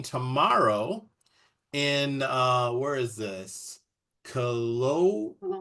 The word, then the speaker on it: Kelowna: Kelowna, right? Is that how you say it? Kelowna, British Columbia. Yeah. That one's happening. Kelowna, that's right.